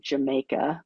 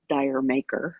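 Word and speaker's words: D'yer Mak'er: I think they pronounce it Jamaica, but it looks like Dire Maker, right?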